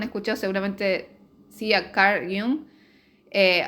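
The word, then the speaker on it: Jung: No sé si han leído o han escuchado, seguramente sí a Car yung eh, otros le dice Yang. Yo tengo entendido que se pronuncia y un es muy interesante lo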